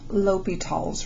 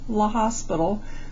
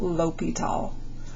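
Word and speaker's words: L'Hôpital: taking a look at ly tall's rule ly tall this is a French name that's how you pronounce it it looks a lot like La hospital but it is pronounced Lal okay so Lile is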